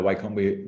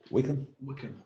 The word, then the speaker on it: Wycombe: I'm neither Wycombe. What is it? Wycombe? Wickham.